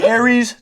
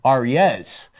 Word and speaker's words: Aries: Hill main shooter is I change the pronunciation of my last name that was it that's it that was it Aaron from Aries to the correct pronunciation Arias so it's like so